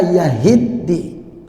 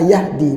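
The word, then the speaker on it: يَهِدِّي: yang kedua am la yahiddi bas kalau enggak teliti orang langsung refleknya bacanya am la Yahdi pad yahiddi kalau Yahdi memberi petunjuk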